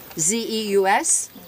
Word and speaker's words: Zeus: Z-E-U-S, spelled, pronounced Zeus in Greek, Jupiter for the Romans.